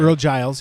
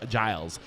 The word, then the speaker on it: Earl Giles: saying it correctly right ear Giles thank you very much I see the Gan it throws me off uh but it's a it's a Giles uh so Earl Giles